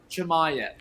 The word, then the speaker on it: Chimaev: So the pronunciation is Khamzat Chimaev.